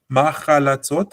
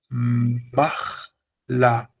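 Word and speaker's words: מחלצות: Machalatzot has got an A sound, but correctly it is machlatzot. And I want you to notice it is not machalatzot. Because if I do machalatzot, it means that there's a long A sound here, which is a kamatz, and then it would mean that there's a patach here, which is not the case.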